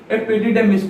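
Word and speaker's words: epididymis: एपिडेमिस को आसंती एपिडिडेमिस को आसंती मो बोल प्रोनाउंस करछि एपिडिडेमिस को आसंती ता पर ऑर्गन होछि एपिडिडेमिस।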